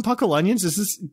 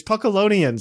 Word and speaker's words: Puckalonians: If it was an A, I would say Puckle. It's Puckalonians. That's what it's supposed to be. Puckalonians, not Puckle Onions.